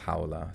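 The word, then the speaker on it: Khawla: existing within conventional languages k-h-a-w-l-a and pronounce hawla so idk idk the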